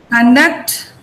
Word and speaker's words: conduct: Now, the stress is on the first syllable. There are 2 syllables here. Con and duct. These are the 2 syllables. Con and duct. Right? this is a noun. Now I said in a noun, the first syllable is stressed.